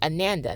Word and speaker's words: Ananda: Like, it's Amanda, like you know the name Amanda, then replace the M with an N. Okay, Ananda.